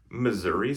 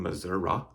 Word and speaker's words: Missouri: Missouri somehow became Missouri. I'm sorry, I'm calling them out on that one. Like, there's no word that ends in I that you pronounce oh at the end, right?